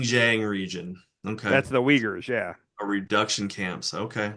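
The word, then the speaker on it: Uyghurs: I think it's the Ugers. No, it's it's pronounced Weaguers, but it's it's not spelled like you would think it is, but it's the Weaguers.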